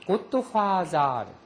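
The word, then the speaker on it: ゴッドファーザー: 화더가 일본은 th 발음은 사로 발음하게 돼 있어요. 고토화자.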